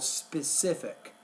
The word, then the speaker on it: specific: the one word specific put the stress on that second to the last syllable specific also you want to